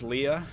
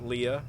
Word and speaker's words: Leia: in A New Hope, General Dodonna just calls Princess Leia Princess Leia. And I think he's the only person in, like, any of the movies that pronounces it Leia.